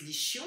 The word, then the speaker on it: ischion: Et dans la fesse, vous avez ce petit os qui s'appelle l'ischion. Certains disent l'ischion parce que ça s'écrit avec un CH.